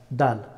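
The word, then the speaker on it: دال: Da, da, dal. The letter of dal pronounced from tip of the tongue touching root of the front two teeth.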